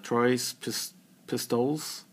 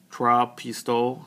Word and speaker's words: Trois Pistoles: So the 3 that come in the package are, let's see if I can say it right, Trois Pistoles.